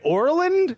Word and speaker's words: Orland: I'm pronouncing it right Orland Pennsylvania yeah it's like Ireland with an O because we want to confuse you for the one the